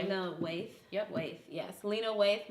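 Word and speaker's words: Waithe: Waith. Lena Waith.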